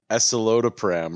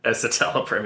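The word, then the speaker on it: escitalopram: Yeah, that's we pulled the string cuz I mispronounced eselodopram or some like that. An anti-anxiety med. Yeah, epatal. Esatelopram.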